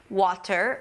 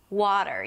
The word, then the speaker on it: water: waa-d'r You can check out the flapped T tutorial to learn how to pronounce this sound okay. So, wa-a-d'r Then from this T-D you shift directly to a soft R: wa-a-d'r.